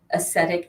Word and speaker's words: acetic: it because of the aesthetic as the the acetic acid is that what how you pronounce it vinegar it's acid so in the